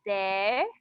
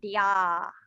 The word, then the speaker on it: there: This word is always pronounced as there and not dia.